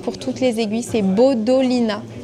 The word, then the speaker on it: Bodolina: C'est Bodolina. B O D O L I N A comme ça se prononce.